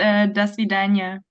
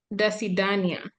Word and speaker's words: До свидания: Yes, it's До свидания. До свидания.